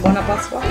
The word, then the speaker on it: Buona Pasqua: Buona Pasqua?